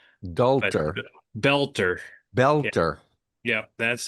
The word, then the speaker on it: Boelter: Well, the first thing you should know, his last name is it looks like it's supposed to be Bolter, but he pronounces it belter. Like belt. Belter.